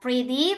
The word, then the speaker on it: pretty: Pretty pretty good seperti itu. Pray, pray good. Jadi D-nya ini agak lemah ya. Jadi bukan day tapi eh kayak the the the gitu.